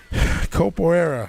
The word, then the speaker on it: Capoeira: Capoeira.